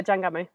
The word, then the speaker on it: Jangamo: How do you pronounce it? Jangamo. Uh yeah, Jangamo.